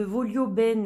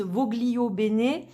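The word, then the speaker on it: Voglio Bene: et de Sandy tattoo alors moi je le prononce volio ben parce que en italien ça veut dire je le veux bien moi je parle un petit peu italien et je suis d'origine italienne donc voilà je le prononce comme ça d'autres personnes disent vos glio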